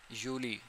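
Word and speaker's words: Juli: थोड़ा सा माइनर सा इसके अंदर डिफरेंस है प्रोनाउंसिएशन के अंदर उसके बाद यूनी जून को कहते हैं हम यूली जुलाई को कहते हैं।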